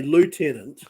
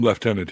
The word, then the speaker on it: Lieutenant: is um Americans say Lieutenant oh yeah I hate that word I hate that word British yeah which makes no sense we call him left tenant here in Canada as well yes there's no right